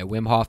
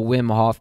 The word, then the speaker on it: Wim Hof: Is that how you pronounce it? Yeah, Wim Hof method.